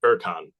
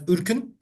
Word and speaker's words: Ürkün: uh we we would um pronounce it as urin in Turkish and it would it